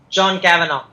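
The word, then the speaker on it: Kavanagh: trained on their coach cavana how do you pronounce his name coach kavana John kavana kavana yeah so coach kavana whether they have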